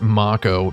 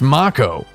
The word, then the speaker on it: mako: the first mako reactor but it's mako japanese word in japanese it's actually too kanji